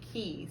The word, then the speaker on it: QUI: I know it, but every time I think of the QUI, I'm gonna say Key. So it is Key.